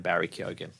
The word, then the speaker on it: Barry Keoghan: Also, this week, speaking of tangentially related, the Batman news, Barry Keoghan confirmed you pronounce his name Barry Keoghan.